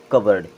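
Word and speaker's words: cupboard: क्या हो गया बोर्ड लेकिन यहां पे हमारा पीवी सा साइलेंट होता है इसे हम केवल पढ़ते हैं कवर्ड क्या बोलते हैं कवर्ड इसे पढ़ते हैं कबर्ड यहां पे यू भी साइलेंट और पी भी साइलेंट और इसे पढ़ा जाएगा कवर्ड यहां देखें यहां पे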